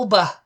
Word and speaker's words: Alba: you do the G did you do the Scottish pronunciate Scottish pronunciation of Al Alba there you go that's that's a Scottish pronunciation okay and Alba okay